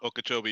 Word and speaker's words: Okeechobee: I mean they added Okeechobee, whatever that thing's called. If I said it right or wrong. Okeechobee, yeah.